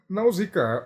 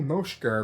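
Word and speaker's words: Nausicaä: Então, na teoria seria a maneira grega de pronunciá-lo. ou dependendo do seu ponto de vista, o original seria o japonês. Daí a maneira como eles falam lá no Japão seria a maneira correta de pronunciá-lo.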